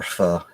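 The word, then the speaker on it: phở: It's like when you go get like a pho, you know, you want the meat to be really thin, too. Yep. Or pho, if you want to say it right.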